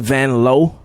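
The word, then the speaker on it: Vanloo: Do you love Julie Vanlow? Cuz that's how you say it. Sure. Julie Van Low is my least favorite. She said, wait, hang on. It's Vanlow.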